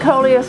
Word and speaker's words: coleus: I'm pronouncing it coleus, and if I'm pronouncing it incorrectly, let me know.